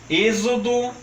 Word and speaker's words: êxodo: o porto Itu e agora atenção também para as palavras de x com som de z como por exemplo exame exílio exemplo Êxodo exumação e exerese notem que por uma